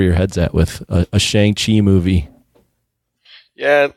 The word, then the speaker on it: Shang-Chi: Is that how you say it? Chai or Kai? No, Shang-Chi.